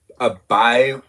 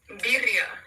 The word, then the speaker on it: Birria: Have I ever had a birad? I don't understand what that is. Can you pronounce that? What? Birria.